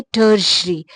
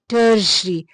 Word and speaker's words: tertiary: category है, टर्शरी colours, तो टर्शरी की स्पेलिंग में TERTIARY है, तो उसमें SUR आता ही नहीं है, लेकिन वो है टर्शरी, टर्शरी, तो वो वहां पर TERE की जगह और SUR मुख्तलिफ चीजें हैं, लेकिन लगेगा वहां पर